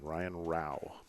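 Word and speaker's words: Rouch: information, ask for Ryan Rao. Okay, spell that. R-O-U-C-H. Oh, okay. The CH is silent.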